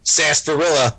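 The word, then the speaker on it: sarsaparilla: invented quote milkshakes and I'm gonna say it sasparilla I said it right yes um I I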